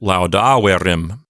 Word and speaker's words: laudaverim: So the accent goes back to the antepenult. So we get laudaverim.